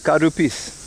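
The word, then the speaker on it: カルピス: Oh, but that's how you say it, karupis. The official English translation is cowpiss, karupis. You cowpiss with an L.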